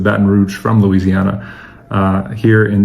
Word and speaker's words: Baton Rouge: Baton Rouge is in Louisiana for those of you that speak French Batan Rou uh literally the red stick but uh everyone pronounces it Baton Rouge from Louisiana uh here in the United States of America.